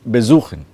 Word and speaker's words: besuchen: Besuchen. Suchen is to search. Suchen is to search. To search and visit is besuchen. The be is not stressed, it is the suchen that is stressed.